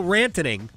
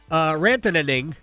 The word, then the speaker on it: Rantanen: The Hurricanes have not been like Mikko Rantanen. I think I might have shortened him a vowel, a syllable. Rantanen, yes.